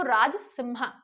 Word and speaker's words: राजसिंह: और नाम मिलेगा आपको राज सिंहा ठीक है यहां पे राज सिंहा राज सिंहा अब अगर स्पेलिंग इंग्लिश में देखेंगे तो ये ऐसे सिंहा लिखा होगा तो राजसिंहा ही पढ़े आप ठीक है राजसिंहा जो